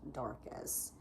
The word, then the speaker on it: Darcus: I've seen it spelled several different ways, but every way it's spelled, it would be pronounced Darcus.